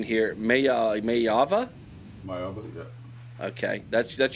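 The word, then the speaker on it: Maiava: So, at quarterback, uh Jaden, and you help me with the pronunciation here, Maya Mayava.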